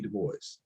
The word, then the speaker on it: Du Bois: of the title the love songs of w.e.b du bois and i'm so glad you pronounced it right well you went to morehouse